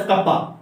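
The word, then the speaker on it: κ: हैं, स्मॉल के जैसा बनाते हैं, this is pronounced as कप्पा, ठीक है।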